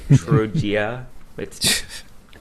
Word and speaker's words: Trogia: Trogia. The I is silent.